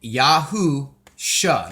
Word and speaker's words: Yahusha: the spelling of the name y-e-s-h-u-a and then Yahoo sha now this is the version that I use